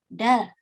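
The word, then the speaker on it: 달: Tapi kalau di akhir dia dibaca L, jadinya dal.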